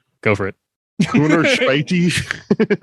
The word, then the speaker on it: Corner Späti: Corner Späti? Yeah, that's actually pretty close. Yeah, Corner Really? Späti. Yeah. Hey. It's your weekly Corner Späti.